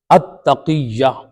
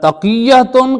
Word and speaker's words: تقیہ: پہ بھی حتیٰ کہ تقیہ کہتے ہیں، تقیہ نہیں ہے، التقیہ یا تقیتن کہیں یا اتقیتو کہیں، تو تقیہ نہیں ہے، تو جو تقیہ تلفظ کرتے ہیں وہ بالکل غلط کرتے ہیں۔ تو بہرحال تقیہ جو